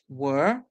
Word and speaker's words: were: In some words, you're gonna hear the ER make the sound and the E at the end being silent. So you have to look out for those variations, like in the word were, like if you say